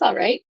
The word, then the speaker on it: all right: that's a good question it's all right you almost don't hear the L but I do pronounce it um I'm going